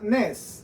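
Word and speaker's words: נס: en lanús y las se lee de derecha izquierda y se pronuncia nes es la palabra nes n e Z Esta es la palabra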